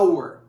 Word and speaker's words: hour: palavra hora em inglês ora em inglês fala se a ur a ur só que é a palavra our ela se escreve h